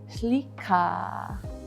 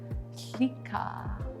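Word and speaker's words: łiq'a: And the first one's gonna be, it's pronounced with a silent L, so it's gonna be shlika, shlika. And that means salmon. One more time, that's shlika.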